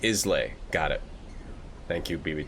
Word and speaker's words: Islay: Islay is pronounced Islay.